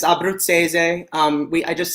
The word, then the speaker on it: Abbruzzese: a um in italian it's abrupt seize um we i just say abbott says because it's a mouthful